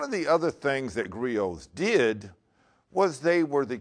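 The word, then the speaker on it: griot: spell that for you it's g r i o t but we don't pronounce the T see Grio were Mass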